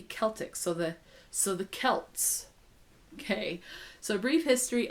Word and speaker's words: Celts: welch and so forth the letter c is always k and celtic is celtic with a hard c so it should be celtic so the so the celts okay so a brief